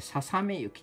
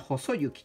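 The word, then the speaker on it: 細雪: って絶対細い雪とか読んじゃうもんね。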